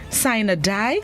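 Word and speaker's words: sine die: court and corporate procedures synadai entered english in the 17th century the word of the day this morning is spelled s-i-n-e space d-i-e sign a die it's an adverb which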